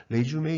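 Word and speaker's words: résumé: 이렇게 해가지고 이거는 풀어 프랑스 계열에서 나온 겁니다 이것은 이력서가 됩니다 레쥬메 이라고 읽어 줘야 됩니다 가끔 가다가 보면 요렇게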